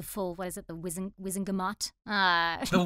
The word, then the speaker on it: Wizengamot: know, having the full, what is it, the Wizengamot? The Wizengamot. They pronounce it differently in the movie, though, don't they?